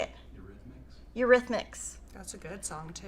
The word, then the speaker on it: Eurythmics: Eurythmics.